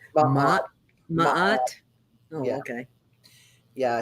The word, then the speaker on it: Ma'at: Ma'at.